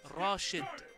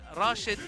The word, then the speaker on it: Rashid: So, like, if it really is Rashid, I would spell it R-A-S-H-E-E-D. Yeah, Rashid.